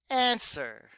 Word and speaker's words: answer: and writing the word answer yes good job we have a W here do we hear that w no we don't that is a ghost letter we don't hear it at all I honestly don't even